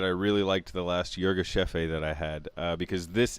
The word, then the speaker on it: Yirgacheffe: Antonio what's brewing Ethiopia Yirgacheffe or Yirgacheffe a as it's normally actually supposed to be pronounced I've learned so you're give chef is how people say it in the United States but everywhere else in the world it's called Yirgacheffe a so I'm gonna add